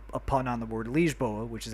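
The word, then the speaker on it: Lisboa: Shuka it's also a pun on the word liegeboa which is how you say Lisbon in Portuguese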